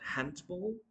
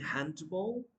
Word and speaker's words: handball: I've got handball. I'm playing handball. No, no, no. The correct pronunciation is going to be handball or handball. The D will not be pronounced here.